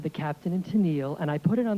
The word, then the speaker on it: Tennille: And then on the label was the correct pronunciation. I said, the Captain and Tennille, and I put it on the turntable, and I fell off the chair.